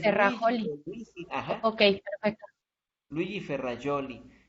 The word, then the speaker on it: Ferrajoli: Ah, se escribe Ferrajoli con J, se pronuncia Ferrajoli. Y es Luigi, Terrajoli. Luigi, ajá, Ok, perfecto. Luigi Ferrajoli.